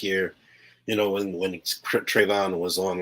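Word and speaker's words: Trevon: so i'm sorry i'm sure i just said his name wrong tavonne diggs right trayvon trayvon okay i knew i was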